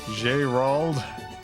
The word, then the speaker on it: Jerauld: Birthday Machine, my name is pronounced in the French style. All right, one second. French style. Jerauld. Is that it? Jerauld.